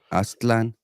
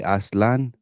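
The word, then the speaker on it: Aztlán: talking about Aztlan. That's the Yes. proper way to pronounce it. A lot of people say Aslan, Mhm. but it's not.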